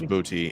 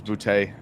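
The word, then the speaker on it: Boutte: still there from LSU how do you say his last name is it booty is it really it is booty yeah I didn't I thought it was bootay it is not yeah is he still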